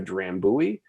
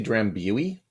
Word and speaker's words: Drambuie: Did you just say Drambuie? Drambuie, because we're Canadian. That's how we said it. Okay. Drambuie. I always pronounce it Drambuie. That's, if you want to be fancy.